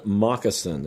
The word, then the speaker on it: Mockasin: And this is an album called Forever Dolphin Love by an artist called Conan Moccasin. And Conan is spelled Connan, and Moccasin is spelled Mockasin.